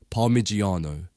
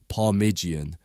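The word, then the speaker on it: Parmigiano: top Megan decides to grate palmigiano except naturally she mispronounces it as parigian really really every Italian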